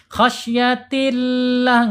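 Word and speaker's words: خشية الله: Karena sebelum lam jalalah harakat kasrah. Khasyatillah enggak boleh. Khasyatillah enggak boleh ya. Enggak boleh fatal enggak boleh ya. Karena apa? Karena lam jalalah sebelumnya kasrah dibaca tipis.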